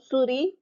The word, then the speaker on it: souris: So now, souris, animal, or mouse, as in computer. And then you have a mail server, server, server. Souris, S is silent.